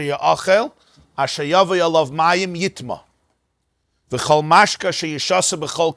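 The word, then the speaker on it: יטמא: It's written Yud Tes Mem Aleph, which could be read Yitma and read Yitame. But what's the right pronunciation? The right pronunciation is not Yitame.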